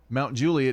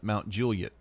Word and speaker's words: Mount Juliet: Mount Juliet is the proper pronunciation in Tennessee oftentimes, and people who live there call it Mount Juliet.